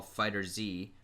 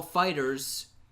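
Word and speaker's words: FighterZ: went to Dragon Ball Fighter Z which he mispronounced it when he announced it he said Dragon Ball fighters and the winner is Dragon Ball fighters no it's fighter Z calm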